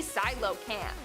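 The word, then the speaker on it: coelacanth: our number one spot today we have The Silo camp Silo Camp which is spelled nothing like it's pronounced I thought it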